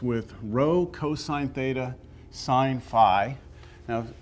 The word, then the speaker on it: phi: Rho cosine theta sine Phi now some people pronounce this Phi some people pronounce it fee you might hear me